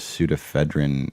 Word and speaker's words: pseudoephedrine: 18 or older if there's pseudoephedrine in it. Oh, okay. Yeah, it starts with a silent P.